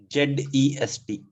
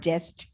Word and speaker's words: zest: Z-E-S-T. So it is not jest. It is Z की pronunciation है.